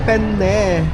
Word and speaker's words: penne: Dapat kasi ipo-pronounce mo ng magkahiwalay kasi penne. Penne ah. Penny.